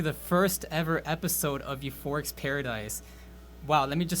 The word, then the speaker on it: U4ric: I am U4ric, not U4ic. It is pronounced U4ric.